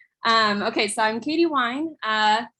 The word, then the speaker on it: Wyn: okay so i'm katie wine uh like leah said wine pronounced like the kind you enjoy in the glass um you can find